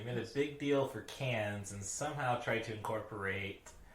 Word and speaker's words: Cannes: And last year, 2022, I think it was, they made a big deal for cans and somehow tried to incorporate... pronunciation is can.